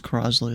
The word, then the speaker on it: Crosley: Crosley. Is that it? I think it's Cley. Yeah. Or Kursley. It was Crosley. That's how he pronounced it.